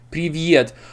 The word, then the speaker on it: Привет: English speakers would pronounce it as Petya, Привет. So oftentimes they try to add this little this little Привет.